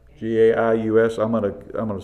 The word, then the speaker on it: Gaius: G-A-I-U-S. I'm going to say Gaius. Guys, however you want to pronounce it.